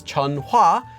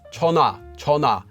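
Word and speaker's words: 전화: chongna chona for telephone it's not read as chun hua it's just read as chona because it comes after this letter ure the word for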